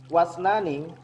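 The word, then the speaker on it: واثنان: Wasnani, wa isnani, tapi kalau bacanya wasnani.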